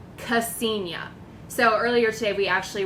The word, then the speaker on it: Ksenia: interesting is it interesting so okay so it's pronounced Ksenia you've gotten Castagna many other many other versions it's pretty hilarious